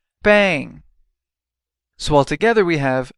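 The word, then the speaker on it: bem: means well bang bang this word sounds a lot like the word bang in Engish English except you don't put the G sound at the end bang so Al together we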